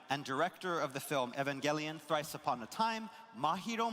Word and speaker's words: Evangelion: Oh, I've been saying it wrong. Evan Evangelion, not Evan. Evan, whatever I said.